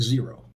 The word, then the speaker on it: Xero: Or if you're not familiar with them, Xero, spelled with an X, pronounced, I think, zero.